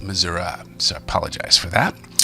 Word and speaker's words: Missouri: And I should say, being that my grandmother was from Iowa and my grandfather was from Missouri, it was actually, northern Missouri is pronounced Missouri, so I apologize for that.